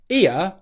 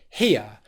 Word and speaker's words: here: people saying the word ear instead of here and if you're dropping the h and pronouncing just ear what you're actually saying